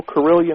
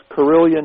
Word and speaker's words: Carillion: word yeah even though corillian rhymes with million it's corillian USA c a r